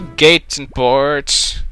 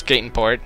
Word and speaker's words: Gateon Port: now I'm going to gateon Port I'm thinking it's gateon Port that's what look that's what it's spelled like gon port and yes here we are in Gaton Port it's the sea it's